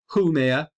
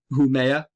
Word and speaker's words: Haumea: and just underneath it there will be a haa haa is how I am pronouncing it whoa Huma uh Huma may be closer uh to the original Hawaiian because it is Hawaiian as we move further